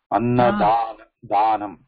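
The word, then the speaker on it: अन्नदानम्: So, the da has to pronounce with the a, open the mouth. Ah, wide, open mouth wide. Oh. Annadanam, annadanam, like we had it like Shiva, Shivananda.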